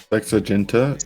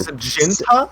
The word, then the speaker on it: sexaginta: Sexagenta quattuor. Sexaginta? Sexagenta quattuor. Ginta, not Genta.